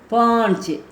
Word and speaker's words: पांच: தோ दो 2 तीन तीना तीन तीना तीन 3 शारा शार शारा शार 4 पान इच पांच पान इच पांच இது வந்து மூக்கில் உச்சரிக்கணும், சந்த பிந்து இருக்கிறனால. பா இன்ச் பாஞ்ச் 5 சக ச ஹ சக.